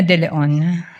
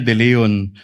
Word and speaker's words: De Leon: Ang tumatawag po sa akin ay si Miss De Leon po, ang Chief Admin po ng Cash Division ng Department of Education.